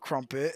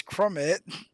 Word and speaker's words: Crummit: and seventh Josh crummit I've been saying his name wrong the entire time it is not Crumpet it's crummit who's an eighth and then